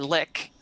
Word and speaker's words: lich: in the store, and since Maruks, this dragon lich, or lick, as some may call it, Leave her alone.